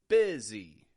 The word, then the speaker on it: busy: but a fist again another word that isn't pronounced the way that it's spelled bizy the spelling doesn't reflect the pronunciation breakfast this spelling does